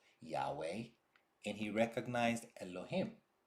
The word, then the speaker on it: Yahweh: He recognized Yud He Vav He, what we pronounce Yahweh, and he recognized Elohim.